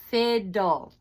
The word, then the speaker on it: fiddle: And then the last one, fiddle. Okay, fiddle has 2 D's. So we split the syllables between the 2 D's, which makes the I closed. So it doesn't say its name, it's short.